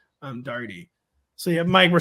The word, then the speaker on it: Daugherty: My Ellis Island story, they knocked an O off of Daugherty, and then we pronounced it Daugherty.